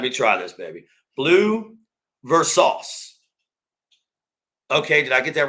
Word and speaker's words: Versace: Blue Versace. Okay, did I get that right? I hope I did. Blue Versace. I'm sorry, dude. I'm sorry. It's Versace.